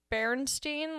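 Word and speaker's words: Berenstain: Like their thing, it'd be like up next is the Bernstein Bears. The introductor, like the narrator or whatever, pronounced it that way too. Bernstein. Yeah. Not Bernstein.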